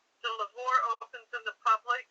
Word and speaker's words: Louvre: Okay, so in 1794, and I hope I say this right, the Louvre opens in the public. Now, how do you say that? It's in France. The Louvre. It's the Louvre.